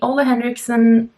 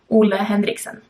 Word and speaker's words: Ole Henriksen: lot more is the Ole Henriksen. Why am I pronouncing that? Like, not the way it's supposed to be, Ole Henriksen. That's like how I would pronounce it in Norwegian and Danish.